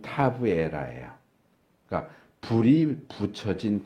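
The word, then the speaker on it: תבערה: 여기 타베라는 히브리 발음으로 하면 타브에라예요.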